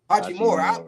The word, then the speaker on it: Hachimura: How you pronounce his name? Hachimura.